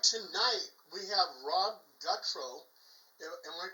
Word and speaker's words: Gutro: Tonight we have Rob Gutro. Am I pronouncing your last name right?